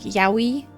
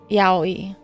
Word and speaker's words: yaoi: I feel like if you say it fast enough, it sounds like a W, like yaoi. But if you say it properly, it's yaoi.